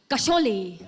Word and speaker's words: कशोले: कहानी जय वीरू के घर घर की कशोले। कशोले? अरे बाबा, शोले का रीमेक है, केस साइलेंट है फिर भी बोलना बहुत जरूरी है, समझो।